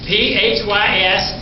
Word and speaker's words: physiognomist: PHYSIOGNOMIST. PHYIOGNOMIST. How you pronounce that?